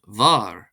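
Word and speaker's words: bhfear: Letter F, this becomes BFH and is pronounced as a V sound. For example, the word far, far, meaning man, becomes var, var, v, as opposed to f.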